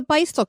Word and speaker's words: Beistle: Probably the most famous producer of vintage Halloween is the Beistel Company. And that is spelled Beistle, which I'm sure all of you have heard of. You probably just didn't know how to say it.